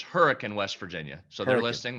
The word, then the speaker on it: Hurricane: It looks like Hurricane, but how is it pronounced? Well, it's Hurricane, West Virginia.